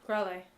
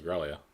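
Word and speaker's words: Gralea: They don't pronounce the A. Oh, do they not? No, it's like... Is it Growly or Growlay? Growlay. Huh. I thought it was Growlia.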